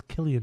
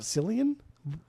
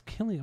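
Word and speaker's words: Cillian: you pronounce his name I think it's Killian Murphy Killian I think it's the Irish Red it's not selian no it's kilan why would it be selan I don't know I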